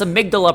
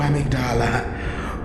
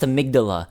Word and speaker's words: amygdala: And frankly, they're all insane because they can't even pronounce amygdala properly. Oh, amygdala. Oh, amygdala. It's pronounced amygdala.